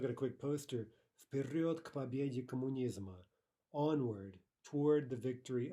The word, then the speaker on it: к победе: Okay, practice, again, the pronunciation, к победе, not к победе, right? We really want no pause whatsoever between those two consonants, к победе. Pretend as if it were written as a single word and pronounce it accordingly.